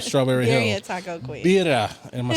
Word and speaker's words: birria: Birria. Am I saying that right? Birria. Birria. You gotta roll your R's.